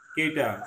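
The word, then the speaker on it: cut: সাধারণত থেকে স্বরের মত হবে কিছু ক্ষেত্রে এদের উচ্চারণ উ এর মত হয় যেমন বহুল প্রচলিত যুক্তিতর্কে ভরা দুইটা শব্দ কেটা সিউ টি কাট সি ইউটি কি কাট পি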